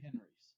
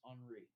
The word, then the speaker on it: Henri: war of the three henrys okay so uh henry geese is the leader or actually i'm sorry i butchered this all this time it's actually in francis pronounced henri so andre geese is the